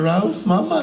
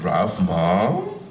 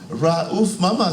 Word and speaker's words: Raouf Mama: you say your name I said Ral Mama sir he said Ralph mom with a Grimace I said no not R Mom R Mama sir and he looked at